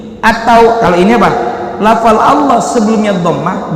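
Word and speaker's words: الله: Maksudnya kayak kita nyebut Allah, tetap la, huruf lam, bukan pakai w, bukan dimonyongin. Au, kalau au ada huruf apa? Wa atau w. Allah, Allah, Allahu Akbar, Allah, bukan au, nggak monyong.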